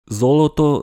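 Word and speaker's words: золото: Zoloto se prononce bien avec des O.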